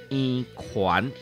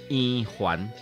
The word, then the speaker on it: 圓環: 搁再来，这字呢，若念圆环是传统的台语读音，若念圆环是华语化的读音。